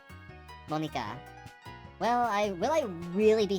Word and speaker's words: Monika: Sayori, Natsuki, Yuri, and of course, Monica. Sorry. Technically, in Japanese, that'd be pronounced Monika. Monika.